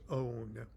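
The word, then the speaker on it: ὄν: Okay, and it's so close to the vibratory word om, and it's probably pronounced own, to own.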